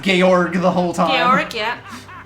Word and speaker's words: Georg: So yeah, his name actually has been pronounced Georg the whole time.